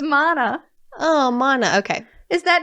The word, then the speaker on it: Mona: her also lana or mona no mana says right here rhymes with donna oh that's so helpful that she put that so i knew it was mana oh mana okay is